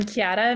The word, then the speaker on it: Chiara: Chiara, am I pronouncing your name correctly?